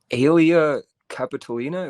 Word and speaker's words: Aelia Capitolina: John, he actually renamed the city, calling it Aelia Capitolina, if that's how it's pronounced.